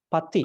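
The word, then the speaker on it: paṭirūpa: This is not T actually. This is T. Pati.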